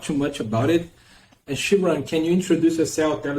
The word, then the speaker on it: Xinran: everyone my name is Shan for those of you who don't not pronounce my name I know many are not so the x is actually pronounced like sh and yeah I'm a